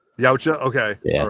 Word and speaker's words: Yautja: How do you pronounce it? Yautja. Yautja.